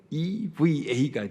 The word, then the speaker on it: Eva: 스펠링을 huva에요 그런데 이것이 h자는 묵음으로 나옵니다 그렇기 때문에 eva가 돼요이 라틴어 성경을 기초로 영어로